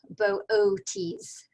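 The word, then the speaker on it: Boötes: constellation this month is bootes and uh the two dots over the second o indicate that both o's should be pronounced separately as booties and i shall continue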